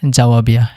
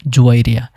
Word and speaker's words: জুয়াইরিয়া: 11 number রয়েছে জাওয়াবিয়া এবং এর শুদ্ধ সঠিক আরবি উচ্চারণ হলো জুয়াইরিয়া যার অর্থ সুখ আনায়নকারী।